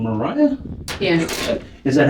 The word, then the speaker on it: Mariah: Is your first name Mariah? Yeah. Is that how you pronounce it, Mariah?